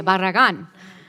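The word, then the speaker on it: Barragán: my friend from texas for first of all pronouncing the name right that was pretty darn good it's as close as i say barragan but i also i want to thank you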